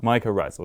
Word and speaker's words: mycorrhizal: of networks this idea i'm not sure i pronounced this right but this idea of mycorrhizal network mycorrhizal mycorrhizal there we go is which is essentially